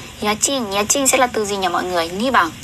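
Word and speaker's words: 家賃: Yachin.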